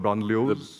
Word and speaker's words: banlieue: How could you have avoided what's happening in the, how do you pronounce the French term, banlieues?